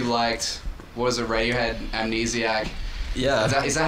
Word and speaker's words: Amnesiac: uh you really liked what was a radiohead amnesiac yeah is that how you say it yeah